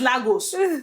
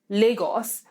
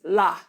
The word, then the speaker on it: Lagos: know so it's not I can't blame an American for seeing Lagos and pronouncing it LA because that's how so until you are able to coach them through it to say there's a different way we pronounce this a it's it's it's